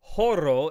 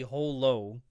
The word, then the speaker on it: Holo: to pronounce Holo's name, because there's no L sound in Japanese, but the creator of Spice and Wolf has said emphatically over and over again, it is, even though we can only say Horo in Japanese, her name is actually Holo.